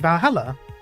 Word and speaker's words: Valhalla: going to close Valhalla the name sounds silly and a bit hard to pronounce good thing actually called valala the funny numbers and